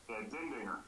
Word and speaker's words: Dindinger: Dindinger.